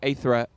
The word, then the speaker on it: Aithre: It comes from the Greek feminine version of ether, like the ether Oh, out okay, there.